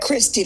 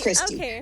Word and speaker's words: Christy: want to slaughter it christy like christmas is the way i write it's christy that makes sense so